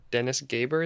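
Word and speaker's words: Dennis Gabor: I think it's from Dennis Gaber is how you say his name, that the future can't be predicted, but it can be invented.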